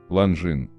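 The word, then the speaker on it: Longines: Ланжин. Так как слово пришло с французского, то правильно говорить ланжин, смягчая звук «ж».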